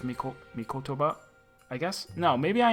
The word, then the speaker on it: Mikotoba: I feel like I keep saying Mitokoba, but that's not it. It's Mikotoba, I guess?